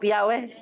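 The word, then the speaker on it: Yahweh: it is the in that is actually that the right pronunciation of yahwe inhale exhale Yah that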